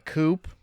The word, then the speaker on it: coup: this might be a coupe is that how you pronounce that word I know there's a p on the end I think the p is silencer oh well then you've